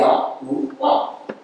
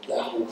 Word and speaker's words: Yahuwah: So the way they will pronounce it is Yahuwah. And the Cherokee Indians still say Yahuwah.